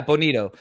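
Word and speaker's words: Bonitto: How do you pronounce his name? Bonito? Yeah, Bonito.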